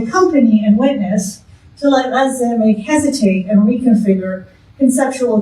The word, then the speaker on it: Gaza: Specifically, I want to accompany and witness to this, so I'm going to always pronounce this this, so just like Gaza is pronounced in Arabic Gaza, and I can't help myself, so just, you'll have to just get me to hear it that way.